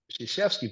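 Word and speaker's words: Krzyzewski: think it was uh well the one story sheski was at at Army and we later know that we learned that his name is pronounced shashy but at that point you know all right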